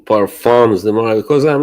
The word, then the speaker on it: parfum: By the way, I was saying I will stop saying parfums the more because I'm not American.